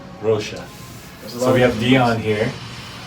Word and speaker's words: Rocha: Rocha.